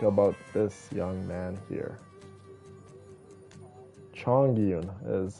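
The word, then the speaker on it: Chongyun: Chong Yun is how you pronounce his name.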